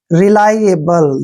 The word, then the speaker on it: reliable: RE का उच्चारण हम री करेंगे। क्या करेंगे? री। LI को जो है उच्चारण हमने लाई करना है। देखिए लाई ऐसे, LI को क्या पढ़ना है? लाई। और ए का उच्चारण ए करेंगे और बी को वे पढ़ना है, LE को ले पढ़ना है। रिलायबल, देखिए ऐसे पढ़ना है, रिलायबल।